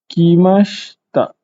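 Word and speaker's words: きました: Kimashita. I dekat SHI tu macam tak ada kan. Sepatutnya kita baca kimashita.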